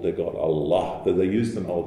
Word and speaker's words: Allah: this vowel as well it's the only el in arabic that stands by itself that has that dark pronunciation answer puzzle and some